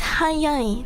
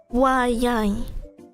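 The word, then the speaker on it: はやい: But if you were to pronounce it wa anyway, even if it's not meaning is, then that's wrong, because it's hayai, not wayai.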